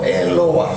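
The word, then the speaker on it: אֱלוֹהַּ: gini ini alipoteks namanya nah dibacanya e luah nah terus yang kedua Yim eluah atau elowah bisa eluah bisa eluah kalau pakai dia transentrasinya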